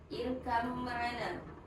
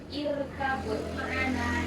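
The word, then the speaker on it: اركب معنا: Irgam maana. Simak ya. Nomor satu. Huruf ba diidgamfkan pada dalam tajwid disebut idah dan irkam. Jadi cara bacanya bukan irkabut maana tapi irgam maana langsung mim.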